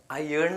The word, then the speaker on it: iron: IRON അയേൺ എന്ന് വായിക്കുക. റോന്ന് വായിക്കരുത്, അയേൺ.